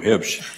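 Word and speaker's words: Huebsch: I don't pronounce the U. Hibsch.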